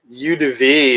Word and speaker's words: eau de vie: Eau de vie.